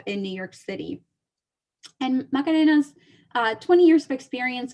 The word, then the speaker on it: Macarena: i have the lovely macarena really and i'm pronouncing it the spanish way but some of you guys will say macarena and um i met